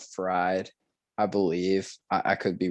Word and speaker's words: Fried: max fried and um it's actually pronounced freed but like it's spelled fried i believe i could